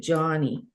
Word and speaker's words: Joni: Johnny, Joni, and she pronounced it Johnny.